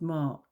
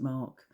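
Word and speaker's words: Marc: had a digestive called Mark. Well, it isn't Mark. Don't think you pronounce the C, but it's difficult to pronounce it otherwise.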